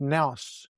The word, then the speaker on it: nous: And yes, I've got some notes here cuz the pronunciation is nous, n o u s, or noos nous.